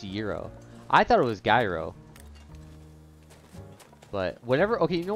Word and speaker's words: gyro: wise it's zero oh okay zero in greek euro if you're in the us zero and if